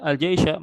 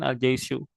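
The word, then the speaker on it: الجيش: Harusnya kalau waw atifah itu jaisyahnya dibacanya bukan al jaisyah melainkan al jaisyu.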